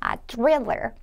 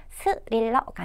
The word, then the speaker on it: thriller: 그래서 thriller, 요것은 이제 TH 발음이기 때문에 스릴러가 아니라 thriller 이렇게 발음을 합니다.